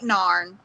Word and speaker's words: narn: yes no or well duh obviously there ain't narn now we say that a lot do y'all say that what yeah but we pronounce it n n n a r n